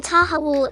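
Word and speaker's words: تحوّل: That deep H in tahawul is like a gentle breath from your chest.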